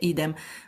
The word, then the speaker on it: idem: I don't know in English how you pronounce it, but in Latin you say idem, which is spelled I-D-E-M.